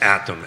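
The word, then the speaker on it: ATTOM: just wanted to make sure I got the pronunciation right it's atom at and uh this is the national firm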